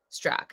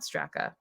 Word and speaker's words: Straka: Strock, not Straka. The A is silent.